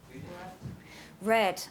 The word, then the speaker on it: read: then the past simple it's the same spelling but the different pronunciation so here we have read and here we have red like the color okay same with the